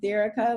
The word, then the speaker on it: Derica: always happens and so my name is pronounced derica like america interestingly and unfortunately but